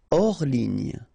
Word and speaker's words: hors ligne: Hors ligne, final here not pronounced, so ligne, and then here S is not pronounced, the final one, so hors, and remember H doesn't exist, so hors ligne.